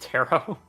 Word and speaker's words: tarot: And before that gets out, I know it's pronounced tarot.